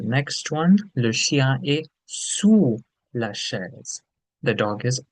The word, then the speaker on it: sous: And the next one, le chien est sous la chaise. The dog is under the chair. So, the pronunciation for this is sur, and here it's sous.